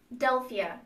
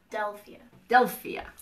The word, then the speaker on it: Delphia: I say your names I say it rum Delphia it's like Philadelphia without the Philadelphia Delphia I think we've always